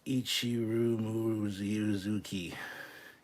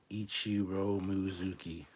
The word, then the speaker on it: Ichiro Mizuki: Pronounced Ichiro Mizuki. Ichiro Mizuki.